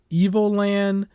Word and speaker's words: Evoland: to October 27th is called Evoland. Not evil, but Evil. I still didn't pronounce it. So EVO. Evoland. Not evil as in Resident Evil, but yeah.